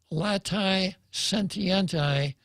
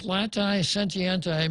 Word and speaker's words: latae sententiae: Canon 1398, a person who procures a completed abortion incurs a latae sentientae excommunication. I'll spell it, Jose.